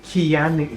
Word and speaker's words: Keanu: Keanu. Yeah, he said, pronounce my name right and I'll stick around.